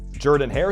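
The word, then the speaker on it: Jordan-Hare: red glow at night Jordan hair stadium and yes that's actually how you say it came along 10 years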